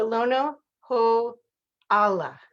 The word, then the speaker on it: Lono Ho'ala: business zone today with my new friend uh lono ho allah is that right did i say right that's